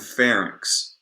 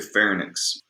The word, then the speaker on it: pharynx: And by the way, we say larynx and pharynx Okay, that is how it is produced. That's how it's pronounced. You don't say larynx and you don't say pharynx.